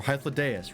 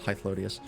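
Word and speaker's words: Hythlodaeus: Or Hythlodeus, right, that's how it's pronounced, not Hythlodius.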